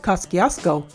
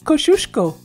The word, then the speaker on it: Kosciuszko: up everyone always said koskiasko but according to the polish community we were wrong all along it's pronounced kosciuszko so don't get it